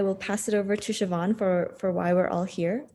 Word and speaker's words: Siobhan: It's not spelled any way like it sounds. So if you see it on screen, you say, "What is that?" It's an Irish name, and it's spelled the Irish way, the Gaelic way.